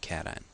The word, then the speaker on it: cation: call that a cation please don't pronounce it C this is a cation the number of protons